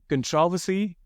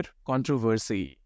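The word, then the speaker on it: controversy: फिर आता है ये, इसको आप ऐसे प्रोनाउंस कर सकते हैं, कंट्रोवर्सी या फिर कंट्रोवर्सी। कंट्रोवर्सी या फिर कंट्रोवर्सी दोनों करेक्ट हैं। सिलेबल स्ट्रेस को वाला ज्यादा पंगा नहीं लेने का।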